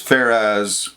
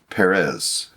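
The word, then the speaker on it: Pharez: the P like you the pH is in Hebrew but by the time you get to the Greek it's p so it's farz or Perez it goes through just a slight change in pronunciation that's all I find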